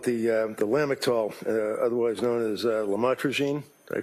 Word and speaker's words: lamotrigine: the drugs, about the Lamictal, otherwise known as lamotrigine. Did I pronounce that right?